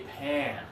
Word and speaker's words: pan: If we decide to say this like, oh, I need a pawn in order to cook my eggs, you're saying I need a pawn. I need to sell something I own to cook some eggs? No, that's incorrect. I need a pan to cook my eggs. And Charlie, you got it.